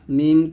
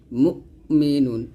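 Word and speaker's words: مؤمنون: মিন দুই পেশ নুন মুমিনুন এখানে হামজা উচ্চারণটা আইনের মত করবো না হামজাটা একটু ধাক্কা দিয়ে পড়তে হবে এবং এখানে ডাবল উচ্চারণ মুমু এরকম করা যাবে না মুমিনুন এরকম মিম পেশ জাল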